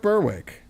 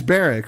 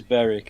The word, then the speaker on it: Berwick: Uh North Berwick Bareric, excuse me. All right. Yeah. I'm I'm an American. I have to pronounce the W. It's Baric, right? It is Beric.